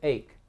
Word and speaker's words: ache: We don't say achy, we say ache. The E is silent.